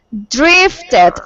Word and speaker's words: drifted: Drifted, I drifted, cuando el verbo termina en T y se le agrega la ED, esa sílaba suena tit.